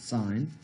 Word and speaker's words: sin: and use the word sen but we still pronounce it sine sine of 24 degrees is equal to 19